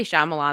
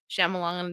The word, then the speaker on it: Shyamalan: I say Shyamalan. That's how I always heard it. So don't correct me. That's how I say it. I know some people say Shyamalan to be funny.